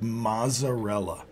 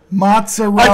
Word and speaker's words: mozzarella: to public service announcement you cannot pronounce it mazarella it's that's offensive mozarella Italians I think in general get offended when they hear something like that masella yeah that that offends